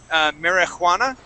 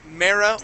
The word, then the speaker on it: marijuana: So, okay, so the way that we pronounce this word, we don't actually pronounce that J. We don't say marijuana, okay? All we say is marijuana.